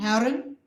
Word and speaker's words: Herren: Remember that the last syllable of Herre is not important. Herren, Hilfe, findet, no heaviness there.